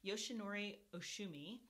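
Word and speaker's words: Yoshinori Ohsumi: i could never quite get it but it's yoshinori oshumi and so in 2016 he won the nobel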